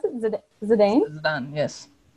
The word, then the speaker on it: Zidane: Is that how you pronounce it? Zidane? Zidane, yes. Zidane.